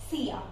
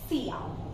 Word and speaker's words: silla: This is double L, but I have mentioned that this gives you the pronunciation of Y, so we call it out as silla.